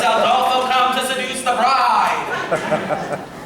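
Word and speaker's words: Aldolpho: No, not Adolfo, Adolfo. You must remember my name for when we are making love and you are screaming it. You must say it correctly or it will ruin everything.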